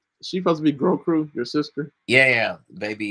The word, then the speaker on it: Grogu: Is she supposed to be Grogu, your sister? Yeah, yeah, Baby Yoda. How do you say his name? Grogu.